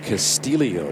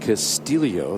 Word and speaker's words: Castillo: You know, indeed, Ricky's last name is pronounced Castillo, not Castillo. That's due to his Filipino heritage.